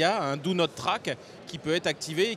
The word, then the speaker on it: Do Not Track: Le Do Not Track, ça se prononce, si on est bilingue, c'est Do Not Track.